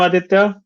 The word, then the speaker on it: Aditya: Okay, so I'm Aditya. That's how I pronounce the name, but it's Aditya, it's fine.